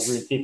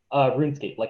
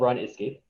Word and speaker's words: RuneScape: but I feel like RuneScape was really kind of the building blocks of this mindset. What's the game called? Remind me. RuneScape. Rude's game? RuneScape, run. It's spelled run escape, but it's pronounced RuneScape.